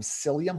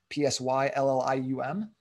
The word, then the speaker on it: psyllium: If you just go to your grocery store and you buy some psyllium husks, spelled with a P, P-S-Y-L-L-I-U-M, psyllium husks, and you just take a scoop of that.